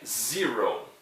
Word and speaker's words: zero: O número 0, ele se escreve da maneira como no português, né? Só que a pronúncia é um pouquinho diferente. É zero, ok? Zero.